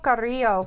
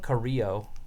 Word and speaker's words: Carrillo: Humberto Carrillo. Carrillo.